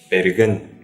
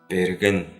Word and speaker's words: берген: Значит, берген. Берген. Буква Б, русская, в тувинском языке, в начале слова произносится не так звонко, но и не глухо. Не П, берген, а берген.